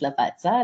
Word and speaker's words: Lavazza: right way to pronounce apparently it's pronounced Lavazza like you pronounce pizza so very very useful